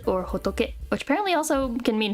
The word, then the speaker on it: 仏: And this is Buddha, Futsu or Hotoke, which apparently also can mean France and is pronounced as Futsu.